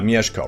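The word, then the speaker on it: Mieszko: look at his name it'll actually help me pronounce it uh miyeshko right here duke miyazako of greater poland and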